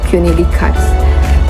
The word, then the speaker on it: René Descartes: Saya sudah mencari juga penyebutan yang benar itu seperti apa, ini benar atau tidak, dan saya menemukan pronounce Prancisnya yaitu René Descartes.